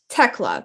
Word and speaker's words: Thekla: to the toxic spider tecla correct the h is silent yes yes okay from